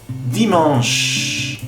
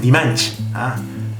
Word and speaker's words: dimanche: Dimanche. Dimanche. En. No es dimanche. Dimanche. Sonido en de enfant. Dimanche.